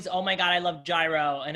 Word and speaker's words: gyro: age they're like but how do you say it can you say it for me is it euro and i'm like here we go yes um yeah i get